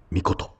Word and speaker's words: 美琴: はどうかなそれで何て読むな美しい命って書いてみこと美琴って読むんだ彦た素敵な